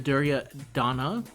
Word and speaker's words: Duryodhana: I tried to look up the pronunciation because I was really interested in it. And in the English case, everyone in the pronunciation pronounced the Duryodhana. And then the ones that I saw that were more, I think it was Hindi, they didn't put the A.